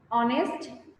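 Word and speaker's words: honest: অনেস্ট, H silent থাকছে, তাই তো?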